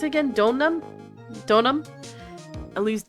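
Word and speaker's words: Deauxnim: How do you pronounce it again? Donam. Donam. Elise. Donam.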